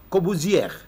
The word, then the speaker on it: Corbuzier: Corbuzier. Harusnya. Corbuzier, ya. Harusnya ya kan? Harusnya R-nya nggak dibaca.